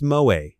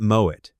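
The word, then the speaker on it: Moët: "Darling, it's Moe, not Moet," he'd say, with that tight, patronizing smile.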